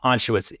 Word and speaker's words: Anschutz: Philip Anschutz? Anschutz.